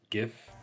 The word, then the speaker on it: GIF: Like this gif It's pronounced GIF.